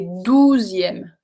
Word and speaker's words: douzième: So, deuxième et douzième. Deux, dou. Deux, dou. I don't know if you can hear the difference.